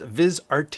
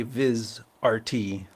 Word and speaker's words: VizRT: and it's proun pronounced viz RT yes that is why I capitalize the r and the T to remind me to say viz RT but when they make